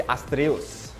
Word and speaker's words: Estrellas: to be up against team estrellas or as i was told to pronounce the astrios all right so right